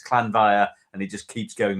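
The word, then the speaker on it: Llanfair PG: So it's one long phrase, but it's Clanvire PG if you ever look it up. But it's Clanvire, and it just keeps going and keeps going and keeps going.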